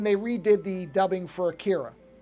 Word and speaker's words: Akira: redid the dubbing for Akira, or Akira, I guess you're supposed to pronounce it, but I'm going to just call it Akira because that's how I always grew up calling it that.